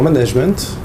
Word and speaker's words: management: en main et donc il aucune raison de prononcer ce terme à l'anglaise si ce n Une c'est com moin en disant management on voit tout de